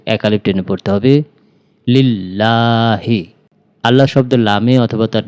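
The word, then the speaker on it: لِلَّهِ: শব্দকে মোটা বা ল বলে পড়তে করতে হয় উচ্চারণ করতে হবে লিল্লাহি লিল্লাহি আলহামদু লিল্লাহি আমার সাথে সাথে বলুন আলহামদু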